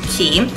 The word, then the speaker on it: Quay: Quay quu a y but it's actually pronounced key these are in the